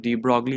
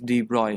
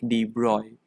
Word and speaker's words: de Broglie: the people's um call call this thing that de broglie is not the actual pronunciation they they they pronounce it more perfectly that is d roy and and we we we think it is